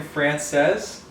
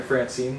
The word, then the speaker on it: Francese: called chicken or creamy chicken frances i guess is the pronunciation uh i remember i kept on accidentally calling it chicken francine the first time i made it i